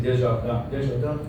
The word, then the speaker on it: Desjardins: I don't know how to pronounce it half the time, so it depends on what company I'm keeping. But the R got rolled enough there that it's pretty close to how we pronounce it in French.